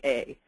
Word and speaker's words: yea: so for this one try to remember that it rhymes with you vote yay or nay at the PTA so this is yea so this is this